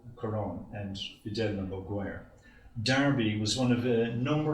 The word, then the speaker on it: Derby: Despite its spelling, it's almost always universally pronounced as Derby throughout the UK.